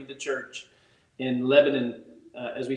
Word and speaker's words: Lebanon: Yeah, you gotta say it like this: Lebanon. Leave the A out to make that O and I.